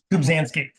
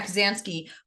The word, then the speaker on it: Kubzansky: You recently co-authored an op-ed with Mike, and how do you pronounce Mike's last name? Kubzansky. Yeah, Kubzansky from Omidyar about AI.